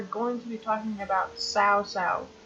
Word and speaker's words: Cao Cao: to be talking about sow sow yes it's how you pronounce his name you might count out south-south and there's multiple sources